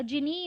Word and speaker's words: Guinea: तो जिनी बोलते बेसिकली इसको, इसका प्रोनाउंसिएशन जिनी है, ये जिनेवा जैसा लग रहा है।